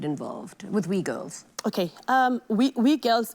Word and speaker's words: WGILS: with we girls okay we girls it's the it's an approbation it's pronounced as we girls it's a skills that's